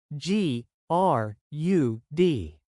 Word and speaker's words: grud: It's spelled G R U D. Is it pronounced like the words mud and crud?